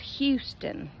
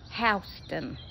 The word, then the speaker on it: Houston: rain by the way in Texas it's called Houston but in Georgia it's houseon spelled the same houseon why I don't